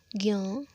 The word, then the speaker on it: ज्ञ: बात यह है कि जो ज्ञ है, हम इसका उच्चारण अक्सर आधा गो य ज्ञ के तौर पर कहते हैं, लेकिन हम देखें तो यहाँ पर हलंत ज का योग हो रहा है हलंत य के साथ और अ के साथ, तब ज्ञ बन रहा है, तो इसका वास्तविक जो उच्चारण है वो ज्ञ होता है, लेकिन लोक प्रचलन में ज्ञ है, इसलिए विज्ञान को विज्ञान बोला जाता है, न कि विज्ञान।